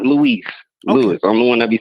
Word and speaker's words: Louis: So, you yours is Lewis? Yeah. Okay. And you spell it L O UI S? Yeah. Are you sure your name isn't Louie?